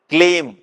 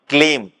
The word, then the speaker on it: கிளீம்: கூடவே என்ன பண்ணிக்கலாம் அப்படின்னா கிளீம்ங் என்ற பீஜத்தை அல்லது ரீங் என்ற பீஜத்தை ரி இங்கு ரிங் என்ற பீஜம் அல்லது கிளீம் இக் லி இம் கிளீம் கே எல் இ எம் கிளீம் என்ற பீஜத்தை உச்சரிக்க தெரிஞ்சது அப்படின்னா அந்த தோஷங்களில் இருந்தும் சாபங்களில் இருந்தும்